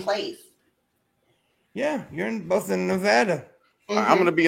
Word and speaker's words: Nevada: And you notice I say it right. I say Nevada. I don't say Nevada. I say it correctly.